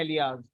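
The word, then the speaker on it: alias: इसका प्रोनाउंसिएशन कुछ लोग अलाइस करते हैं और कुछ लोग जैसी स्पेलिंग लिखी है वैसे ही कर देते हैं एलियाज। तो जो आपका मन करे वो आप कर सकते हैं, ज्यादातर लोग इसको एलाइस प्रोनाउंस करते हैं।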